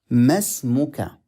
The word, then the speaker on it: ما اسمك: Masmuka. So in reading, the alif is silent.